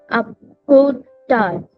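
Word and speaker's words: à plus tard: Again, here we are not pronouncing two letters that are there at the end, which is S and D.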